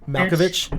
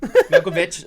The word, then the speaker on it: Malkovich: Malkovich. Yep, Malkovich.